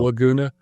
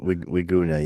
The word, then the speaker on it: Wiguna: Harry, now I mispronounced his last name on the video. Laguna. Yeah. Wiguna, yeah.